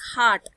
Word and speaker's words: heart: And remember, it is not hurt, it is heart. The body part is heart. So never speak it hurt. It is a wrong pronunciation.